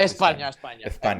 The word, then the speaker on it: España: España.